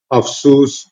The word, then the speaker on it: എഫിസസ്: മനസ്സിലാക്കാൻ സാധിക്കുന്നത് അപ്പൊ ഈ എഫിസസ് എന്നുള്ള പട്ടണത്തെ ഖുർആൻ മുഫസിറുകൾ അറബി ഭാഷയുടെ സ്വഭാവത്തിലാണ് അതിനെ പരാമർശിക്കുന്നത് അഫ്സൂസ് എഫൈസൂസ് തുടങ്ങിയിട്ടുള്ള രീതിയിലാണ് അറബിയിൽ അതിന്റെ പേരുകൾ പൗരാണിക അറബി തഫ്സീറുകളിൽ പരാമർശിക്കപ്പെട്ട് കാണുന്നത് യൂറോപ്യൻ രീതിയിലുള്ള ഉച്ചാരണം എഫീസസ് എന്നാണ് അതിൽ നിന്നാണ് മൈറ്റി ദി